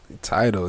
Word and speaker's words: Tidal: Tidal, yeah. What you mean? It's like Tidal. A tidal wave.